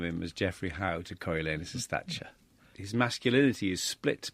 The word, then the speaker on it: Coriolanus: Now, pronunciation, famously at the National Theatre, Ian McKellen, directed by Peter Hall, they said Coriolanus, didn't they? So in Josie Rourke's production, how are you going to say it? Coriolanus.